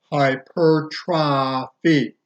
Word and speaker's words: hypertrophy: Hyp ER t ro PHY hypertrophy but is pronounced hyper try feet hypertrophy it means enlargement if you get hypertrophy